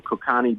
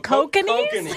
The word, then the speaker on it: Kokanee: We got some Kokani beer. Oh, Kokanee? Kokanee, you mean? Kokanee, whatever. I don't know. Is that how you pronounce it? Yeah, kokanee.